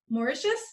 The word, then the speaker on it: Mauritius: We are talking today with Schweta Cunningham, an RN who is originally from a place I can't pronounce very well. Mauritius did I get it right?